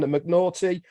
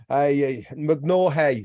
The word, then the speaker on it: McNaughey: Holly, the Big Bugs Phillips is in the casa, and McNaughty, McNaughey, sorry. I like the way you've done that, so that I pronounce it properly.